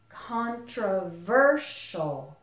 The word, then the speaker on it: controversial: syllables again controversial and you also might notice that the S here the S I doesn't really sound like an S anymore it sounds more like Sheol Sheol controversial and finally we have